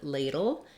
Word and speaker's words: ladle: So all of these words have the first syllable that is stressed, and it's the same. They all have the A diphthong, lay is long, and then der, dull, or bull are all short, reduced syllables.